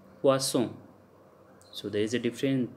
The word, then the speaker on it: poisson: And if double S is there, then we pronounce like S, poisson.